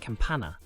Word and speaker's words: campana: here is a good example this word is pronounced Campana and it means Bell but if we add